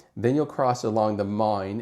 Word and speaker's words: Main: You'll come down the Ryan River, then you'll cross along the mine, M A I N, Mine River, Mine River. Um, people pronounce it different.